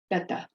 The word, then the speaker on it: beta: Americans pronounce it in general the Americans say beta but what's the name of our language the letters that we use you it's the Alpha bet the connect / connect correct pronunciation of that is bet Becca betta true story find a Greek person they'll tell